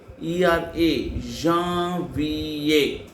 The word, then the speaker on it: Janvier: January in French form, Janvier. Jan sound A. So Jan, Jean. Viera, Janvier.